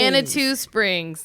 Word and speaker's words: Manitou Springs: Manitou Springs. That makes sense. You should pronounce the I, I guess.